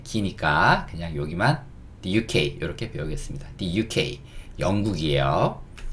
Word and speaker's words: The UK: THE 이거는 이제 덜하고 읽는 건데 덜하고 읽는 단어인데 다음에 나오는 단어가 모음으로 시작하면 이걸 D라고 읽거든요. 그래서 D라고 읽고요. 그 다음에 이거는 U라고 읽어주시면 돼요. 이거는 K, The UK, The UK 이렇게 읽어주시면 됩니다.